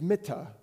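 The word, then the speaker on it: מִטָּה: So, when you look at how this is written, the Hebrew word for bed is mittah, Mittah. The word for staff is mattah, Mattah. It's a simple pronunciation difference.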